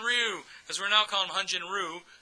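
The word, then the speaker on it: Hyun-jin Ryu: As we mentioned earlier, Hanjen Ru because we're now calling Hanjen Ru. That's how you pronounce it in Korean.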